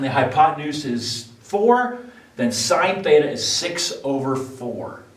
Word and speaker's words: sine: first ratio it's called sine s-i-n-e is how you spell it out but we use the abbreviation sin but you still read that you call that sine now the definition is